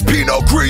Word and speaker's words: Pinot Gris: It's Pinot Gris, you don't pronounce the S.